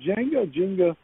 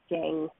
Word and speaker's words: Jenga: Is it Jenga? What do you say? I say Jenga with an E, not Jang with an A. Jenga. I was saying Jenga, but it's Jenga.